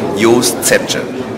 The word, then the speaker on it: Jost: So it's Yost Yost Yost okay I'll remember that it's Y.